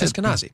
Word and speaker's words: Eskenazi: how do you say this? Eskenazi. Is that right? That's Eskenazi. Yeah, nailed it.